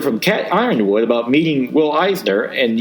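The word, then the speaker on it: Yronwode: Kitchen called Gary Goff, the journal publisher, about this guy Cat Ironwood, and Goff replied, "First, Cat is a woman, and second, it's pronounced Ironwood, and third, she did indeed work for the Comics Journal."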